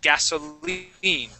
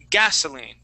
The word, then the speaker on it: gasoline: Okay, this will have the accent at the end of the word gasoline. All right, and that I is going to sound like a long E sound. Gasoline. Try that. Gasoline. All right, so we're going to put the accent at the end. Okay, you're saying gasoline, putting it on that A.